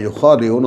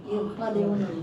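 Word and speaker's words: يُخَادِعُونَ: আচ্ছা, এদেরকে এখন ডিটেল করছেন আল্লাহ, ইউখাদিউন আল্লাহ ওয়াল্লাযীনা আমানু। এই উচ্চারণ ঠিক করো, কান ঠিক করো। ইউখাদিউন ইউখাদিউন আল্লাহ, কোথায় কোথায় টানি, কোথায় কোথায় ঘাটতি করে খেয়াল করো না কেন এখনো।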